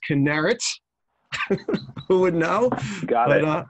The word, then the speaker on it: Kinneret: I learned how to pronounce his camp today. It's Kinneret.